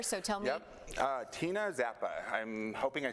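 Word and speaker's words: Czappa: Tina Zappa. I'm hoping I say that last name correctly. Okay. It's C-Z-A-P-P-A, so Okay. I believe the C is silent, so Zappa.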